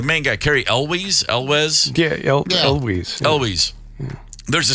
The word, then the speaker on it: Elwes: Yeah, Elwes.